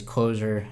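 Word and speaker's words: C7osure: song c7 oh sure which i think is meant to be pronounced as closure as the seven is like an upside down capital L upside down and reversed L is what I mean on this track though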